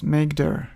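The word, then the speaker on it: mkdir: Linux we use mkd command which is usually pronounced as makeer so we type makeer then folder name enter and here's a new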